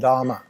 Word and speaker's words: dama: It's called Dhamma. D-A-M-A, Dhamma. Not Dharma, but Dhamma. The Buddhists say Dharma, they spell it like Dhamma.